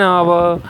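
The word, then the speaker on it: hour: जैसे कि आप देख सकते हो एन ऑनरेबल, एन आवर। ठीक है, इस तरह से हम जो है इस्तेमाल करते हैं, जहाँ पे फर्स्ट लेटर क्या है आपका कांस्टेंट, जैसे एच यहाँ पे कांस्टेंट, साइलेंट कांस्टेंट है।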